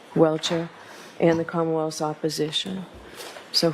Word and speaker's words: Welcher: of Dr Judson Welter welshire how do you pronounce his name Mr Brennan welcher welcher and the commonwealths opposition so who's arguing for